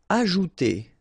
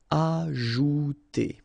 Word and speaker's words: ajouter: Ajouter. So remember, J is really pronounced like J. Ajouter.